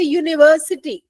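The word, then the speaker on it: university: जैसे यूनिवर्सिटी spelling you से शुरू होती है। लेकिन आप बोल के देखो यू। यू मतलब वाई का साउंड आ रहा है। यू का साउंड नहीं आ रहा है ना?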